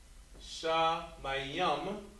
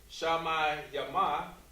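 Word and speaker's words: שמים: Shamayam, because remember, the M is at the end. So you said that, so Triple Yahweh, you said that word correctly. You would not have said Shamayama. Instead you said Shamayam. Shamayam. Just showing phonetically that word is ending with the M.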